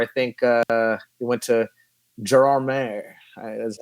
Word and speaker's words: Gérardmer: We went to Gérardmer, is how it's pronounced, in the French Alps, which was an amazing festival.